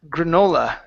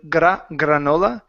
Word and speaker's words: granola: Uh, let's go to the word granola. Instead of granola, it's gr granola. Granola bar. Granola bar. Okay. Watch their Rs.